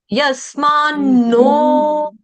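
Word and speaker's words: यस्मान्नो: यस मास उसके बाद double no एक न आधा एक न पूरा जैसे अन्न में न होता है ना वैसे वाला अन्न में होता है जैसे यस मा यस मा नो उसके बाद क्या कहना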